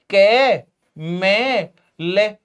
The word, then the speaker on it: कमल: क ख ग घ अरे ऐसे उच्चारण अगर इनका करोगे भाई फिर तो कमल ऐसा बनेगा क मे ले कमेल फिर तो ये कमेल होना चाहिए पर हम तो इसे कमल बोलते हैं कमेल तो नहीं बोलते और बिहार की